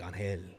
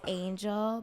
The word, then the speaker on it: Angel: not pronounced anything fancy like Angel. No, it's Angel, but my birth last name is.